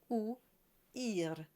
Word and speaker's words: ouïr: And the job of the tréma is to tell you that the I, in this case, belongs to its own syllable. So we have oo and I, and we can add the R to make it complete, and you have ouïr, ouïr.